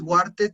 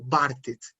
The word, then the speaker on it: wartet: Esta W en alemán suena como una B. Entonces no dices wartet, sino bartet. For dem No, Tor, pues sí la bartet.